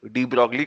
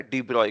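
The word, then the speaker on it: de Broglie: डी ब्रॉगली कोई कोई बोलता है, बट एक्चुअली ये प्रोनाउंस होता है डी ब्रॉय के हिसाब से।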